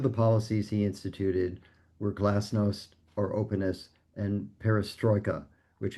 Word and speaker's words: glasnost: And so just for the people who will be reading this or maybe viewing this, what was Glasnost? Am I pronouncing that correctly?